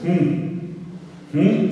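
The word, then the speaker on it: hũ: Monotí, ti, ti es nasal, la i final es nasal, es moroti, monoti es blanco, lo contrario de blanco es hum se escribe h un nasal, h un nasal, monoti, el rojo o colorado es putain, es P, Y, T, A nasal.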